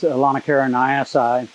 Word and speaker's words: Aulonocara nyassae: in a lanakara species alana caroniasi uh note that i pronounce the ae on the end of that word as long i because that's just a latin ending basically it means a lana